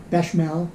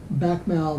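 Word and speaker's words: béchamel: chicken and beckmel sauce bechamel i guess is how you pronounce it with uh skillet sauteed asparagus and depending on how much of that beckmel that bachmael that i would use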